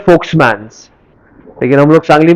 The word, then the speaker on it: Volkmann: उसको actual pronounce करते हैं फोक्समैन्स, लेकिन हम लोग सांगली में क्या बोलेंगे उसको? वोल्कमैन्स कैनाल.